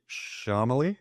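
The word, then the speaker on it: Chalamet: that looks incredible so this Timothy shamaly I think that's how you pronounce his name CU everybody thinks it's Timothy it's not it's Timothy the head sculpt is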